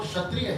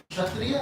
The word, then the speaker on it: Kshatriya: So anyway, so just for the breaking up the word for everybody, Kshatriya means, Kshatriya starts with a K, but K is silent.